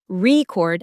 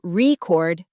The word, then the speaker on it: record: Here's another one, record as a noun, but record as a verb.